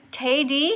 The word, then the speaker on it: Taidy: But it doesn't it say Tay Taidy here? Taidy? Yeah, so with Katie. That rhymes with Katie. Taidy rhymes with Katie and you have empathy just like me.